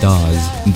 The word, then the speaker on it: Daz: To some of you that don't know, my name is pronounced Daz. Daz is short for my middle name, Daziel, because very close friends of mine don't call me by my first name.